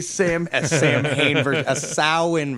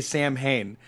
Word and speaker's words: Samhain: I am a Samhain virgin he is a same sow in virgin okay they don't like it when you say Samhain it looks like Samhain it's spelled like Samhain